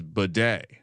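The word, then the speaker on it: Badie: He actually has recently announced that the pronunciation of his name is Bidet.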